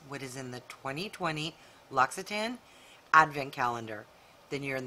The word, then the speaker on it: L'Occitane: is in the 2020 loxitan advent calendar then you're in the right place and keep on watching okay so if you've ever seen this brand the official way you pronounce it is l'occitane i google searched and